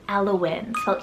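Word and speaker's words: Elowen: from the mama because her daughter's name is alawin e-l-o-w-e-n now you can do w-y-n as well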